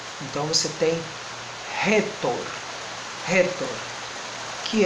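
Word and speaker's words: ῥήτωρ: Esse espírito forte vai indicar uma aspiração mais forte, então o ro aqui no caso não vai ser o ro de cara, mas vai ser o ro de rato.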